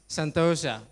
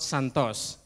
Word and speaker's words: Sentosa: problem so time the third one is Sentosa not Santos yeah I'm not from Brazil from Singapore which is